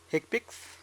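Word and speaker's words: HCPCS: numerical or alphanumeric scp fcpcs healthcare common procedure coding system pronounce eggpix this is the main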